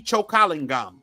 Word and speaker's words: Chokalingam: and h a m choing gum Vera mindi chokalingam she's Indian too her name is hard to pronounce and I'm sure a lot of people